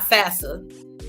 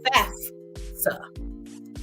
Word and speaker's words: FAFSA: That's how it's spelled. That's how you say it. It's not FAFSA. It's FAFSA.